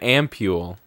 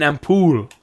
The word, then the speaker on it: ampule: oh it's an ampule an ampool no Keith it's pronounced ampu that's the main pronunciation and ampol I think is the it's like so familiar you know do you